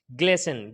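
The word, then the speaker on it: glisten: इसी तरीके से ग्लेसन, ग्लेसन में क्या होगा, TEN है तो यहाँ पर भी क्या होगा, ये टी साइलेंट हो जाएगा।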